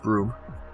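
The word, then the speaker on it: Bruttenholm: People don't know how it's pronounced Broom.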